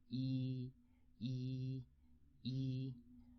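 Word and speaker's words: 一: Chinese character number one yi yi yi so the trick is e is easy e is easy so the first part of easy is e so that's the trick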